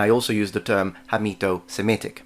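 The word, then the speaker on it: Hamito-Semitic: also use the term hito Semitic although I think I did mispronounce it on that video and I said kamito Semitic with a c that is because that's how we say it in Italian by the way with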